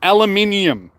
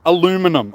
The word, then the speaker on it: aluminium: Like, it's pronounced aluminium, not aluminum, all right? I'm throwing that out there. Aluminium. That's one of my pet peeves. It's just like, god damn, it's not aluminum, aluminium.